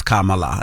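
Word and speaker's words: Kamala: so on the right side they screamed Kama yes and then on the left side they scream LA and then it was K LA and that's how they said that's how you supposed to pronounce her name which was very cute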